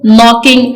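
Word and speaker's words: knocking: करते हैं शी इज नॉकिंग एट the door वो दरवाजा खटखटा रही है नॉकिंग का के साइलेंट है आपने देखा कि हमने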